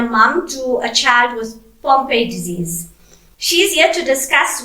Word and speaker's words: Pompe disease: Okay, so first of all, tell us about Zayn and this, am I pronouncing it right, Pompe disease?